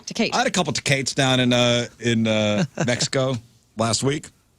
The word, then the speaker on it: Tecate: Tecate, yeah. Or I had it- a couple, or if you're I had from- a couple Tecates. Or if you're from Missouri, Tecate. Tecate. I had a couple Tecates down in Mexico last week.